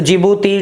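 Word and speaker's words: Djibouti: तो दोस्तों जिबूती, डी से बनेगा, डी साइलेंट रहेगा, एरिट्रिया, सोमालिया और इथोपिया आपको बताया, कभी भी क्वेश्चन आ सकता है।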